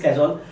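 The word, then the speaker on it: casual: Next that is नॉट, देखो इसकी pronunciation लोग काजोल बोलते हैं, दैट इज कैजुअल, ठीक है।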